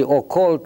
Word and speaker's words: occult: See, occult rhymes with cult in English.